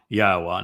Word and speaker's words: Yahweh: So it is clearly Yahweh.